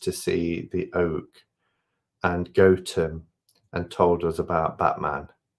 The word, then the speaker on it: Gotham: and they're like oh look cool and they're Gotham. Um it's it's pronounced Gotham.